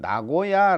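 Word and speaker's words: 名護屋: 카라스 라고 하는데 거기에는 나고야 라는 조그만 그 지역이 있어요 나고야 어 저기 일본 중부 에도 나고야 가 있죠 한자는 다르지만 이제 발음은 똑같죠 거기에 나고야 에다가 이제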